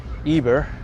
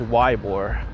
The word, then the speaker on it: Ybor: Just like Ybor City, I thought it was Eber, but maybe it's still Eber because people told me it's the Spanish pronunciation.